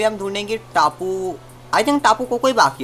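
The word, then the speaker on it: Tapu Koko: का टापू कोको है, टापू कोको हाँ ये प्रोनाउंसिएशन है इसका, मैंने काफ़ी बार प्रोनाउंसिएशन में गलती कर दी होगी, तो इसके लिए मैं माफ़ी चाहता हूँ।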